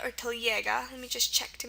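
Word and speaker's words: телега: Some example words are telega. It's a great word, T-E-L-E-G-A. Telega, or I think it's also pronounced telega. So I think it's telega or telega.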